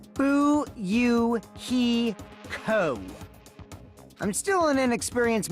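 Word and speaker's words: Fuyuhiko: name is my first name is pronounced boo you he Co I'm still in an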